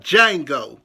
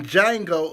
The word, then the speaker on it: Django: a union G Oh the D is silent so with that being said today we will be talking about Django Unchained and I will